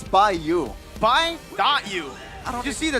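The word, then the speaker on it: by.U: but you don't say the dot. The dot is silent?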